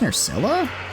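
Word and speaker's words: Nerscylla: Wait, it's pronounced Nurcilla.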